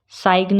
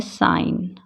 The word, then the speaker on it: sign: साइग्न नहीं बोलते, क्या बोलते हैं? साइन।